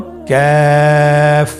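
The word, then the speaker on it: ك: আবার বলুন কাফ। কাফের মাখরাজ আমরা স্ক্রিনে দেখতে পাচ্ছি। কাফের মাখরাজ হলো জিহ্বার গোড়া থেকে একটু আগে বাড়িয়ে তার বরাবর উপরে তালের সঙ্গে লাগিয়ে উচ্চারিত হয়।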